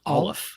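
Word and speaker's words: aleph: didn't know this word Armageddon that uh it's pronounced olive olive yeah I was saying Al but it's Olive and it's the first letter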